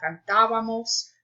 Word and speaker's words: cantábamos: Notice that the accent mark is on the A only in nosotros, so because they want you to have the stress on that syllable, cantábamos. Otherwise, it would be cantábamos, and that's not where it's supposed to go.